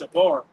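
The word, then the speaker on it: שבר: That word broken there in the Hebrew is pronounced shabar.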